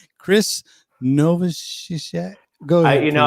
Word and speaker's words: Novoselic: Chris Novoselic. Go ahead. You know, I don't know if it's a hard C at the end or not.